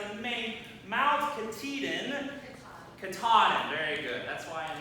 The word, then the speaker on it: Katahdin: Am I pronouncing that right? It's in Maine. Mount Katahdin. Katahdin.